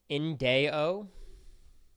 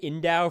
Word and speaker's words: Indeo: Because I pronounced it Indow for 18 months now, and I feel bad. But Indeo. Got it. Indeo.